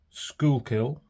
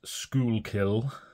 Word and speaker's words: Schuylkill: this is the Narwhal I believe it is pronounced School kill apologies if it isn't but that's what I'm going to call it and in the